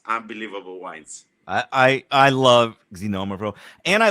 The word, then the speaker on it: Xinomavro: get the accents wrong I'll tell you it's pronounced xinomavro no no no more oh yeah but but